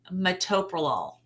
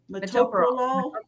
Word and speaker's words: metoprolol: You know what's a drug that I've heard mispronounced so many times over my nursing career is metoprolol. I heard that's a blood metoprolol.